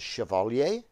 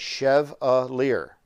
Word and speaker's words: Chevalier: People pronounce my name wrong a lot of the time. Chevalier. The proper French pronunciation is Chevalier, but our ancestors Americanized it years ago. So this is how you spell my last name, but you say it Chevalier.